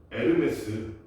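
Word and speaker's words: Hermès: 에르메스. 엄청 막 몇천만 원 하는 그 핸드백 있잖아. 그런 거 만드는 명품 회사 이름에 이렇게 쓰는데 에르메스라고. 왜냐면 프랑스 회사. 프랑스 회사 H는 맨 앞에 오는 H는 누구 모르겠어.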